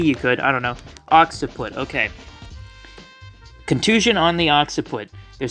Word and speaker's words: occiput: Occiput.